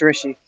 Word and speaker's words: Rishi: sorry I'm I'm I may be mispronouncing your name is it Rishi yeah that's right it's Rishi Rishi okay let me